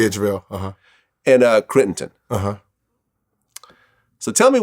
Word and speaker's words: JaVale: Am I pronouncing his name? Yeah, JaVale.